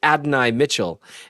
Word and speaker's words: Adonai Mitchell: And in case you're wondering, his name is Adonai Mitchell.